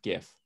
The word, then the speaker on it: GIF: the years he goes i think it's pronounced jeff no no it's not it's pronounced gif that could have been